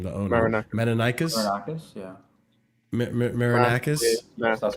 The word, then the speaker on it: Marinakis: But to a certain extent, I do feel that it's how do you pronounce his last name? The owner, Marinakis. Marinakis, yeah. Marinakis.